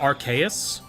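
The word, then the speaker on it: Arceus: What if I'm evil and pronounced it archaeous? That's that's probably fine. I mean, that's not even wrong. Like type null would indicate that's the correct way to do it because typol uses the RKS system which is literally pronounced like that and it's based on Arcus. Archus. Okay, that one I don't know where you picked it up. That one I don't know where it came from.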